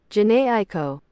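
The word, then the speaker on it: Jhené Aiko: The fact that uh the the people who made that song uh Jana Ieko, is that how you say it? Jana Aiko.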